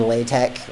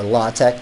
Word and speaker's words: LaTeX: like what you know the difference between latex or lautech depending on how you want to pronounce it versus math Amell mommy